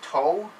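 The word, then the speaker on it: tow: in this word uh you ignore the w so it's toe right you ignore the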